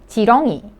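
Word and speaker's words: 지렁이: syllable you could see the consonant looking like a circle because it is used as the first consonant so it doesn't sound so you could just pronounce the vowel e so ch ch chongi chongi meaning an earthworm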